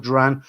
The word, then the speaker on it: durian: Willie, strange how some people don't like the smell of durian.